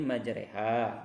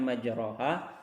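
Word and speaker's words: مَجْرٜىٰهَا: Wa qala arkabu fiha bismillah, harusnya majroha, tapi di sini karena ada imalah dibaca majreha, harusnya majroha bacanya itu. Wa qala arkabu fiha bismillah majreha wa mursaha, harusnya majroha wa mursaha, itu tulisan aslinya, tapi karena ada tanda imalah jadi kita ganti dengan ro, itu jadi re.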